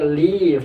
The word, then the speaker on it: leave: Jadi bacanya leave, tidak dibaca live. Kalau dibaca live nanti sama dengan kata tinggal.